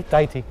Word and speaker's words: deity: yeah yeah people when you look at the word deity it's very confusing but it's really just dye tea like yeah if the word die d-i-e and a lot of tea deity like that's how you say it so but if